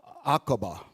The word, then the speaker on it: Aqaba: Aqaba. That's how that's pronounced.